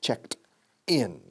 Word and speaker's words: checked: Checked. Con ed, que es con signo de T. Checked in. Ahora bien, cuando enlazamos, ese sonido de T se enlaza descaradamente con la palabra in.